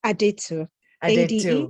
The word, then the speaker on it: Adetu: it for me please it's so simple it's aditya to you yes sounds